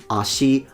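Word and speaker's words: 足: I'm going to say ashi, ashiga, pointing to the fact that the particle goes down because it's a odaka pattern.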